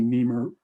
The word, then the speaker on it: NEMA: you need to be neemer rated for exterior use not interiors okay neem is spelled n-e-m-a correct right the national